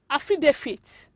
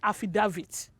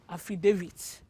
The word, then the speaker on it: affidavit: it have you been calling this word of affidavit as that bring your your pronunciation it is incorrect this word is pronounced as affidavit yes affidavit not affida not affidavit it is affidavit and it's just it means a written statement